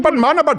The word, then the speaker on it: Padmanabhan: That's Swaminathan Padmanabhan.